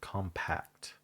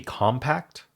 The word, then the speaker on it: compact: It could be compact or compact, depending on if it's a noun or a verb. That's interesting how how English does that, right? The noun emphasizes the first syllable, and the verb emphasizes the second syllable.